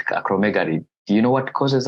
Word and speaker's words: acromegaly: Acromegaly.